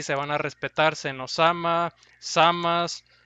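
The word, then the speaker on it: Zamasu: Pero bueno, también menciona Lalo que al parecer como Lalo pronuncia el nombre de Samas, parece que se va a pronunciar tal cual en Dragon Ball Super en latino, Samas. Así que para los que le decían Samasu o algunos Samatsu, pues lo siento, ¿no? Porque va a ser más apegado a la pronunciación original en japonés, así, Samas.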